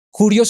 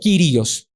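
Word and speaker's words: κύριος: Precisamente esta palabra aquí, Señor, en griego es Kurios o Kyrios, dependiendo cómo lo quieras pronunciar.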